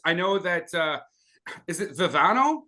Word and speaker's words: Vivieno: As far as I know, that is it Viviano? How do you say your name? Vivieno. Vivieno.